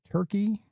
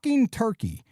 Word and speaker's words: Turkey: I go on vacation for two weeks and somehow uh we are now uh pronouncing the country Turkey as Turk. The are we doing? It's Turkey.